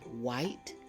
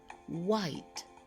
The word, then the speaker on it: white: is silent we have white and whistle say the words after me white whistle did you hear the h sound no because the H sound is silent the H is also